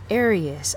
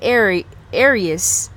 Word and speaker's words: Arias: Arias. I always say her name wrong because I'm thinking of Aries. Like being born in April or something like that. But yes, so I'm sensing Arias.